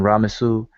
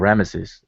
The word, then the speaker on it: Ramesu: And this one, Ramesu, or Rameses, as people pronounce it, but Ramesu will be Ra gives birth to him, or Ra bore him.